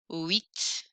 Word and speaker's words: huit: Sept, sept, huit. I think of wheat, if that helps. Huit, huit. The H is silent.